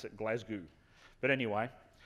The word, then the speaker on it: Glasgow: Now, I have lived in Scotland, and you actually pronounce it Glasgow.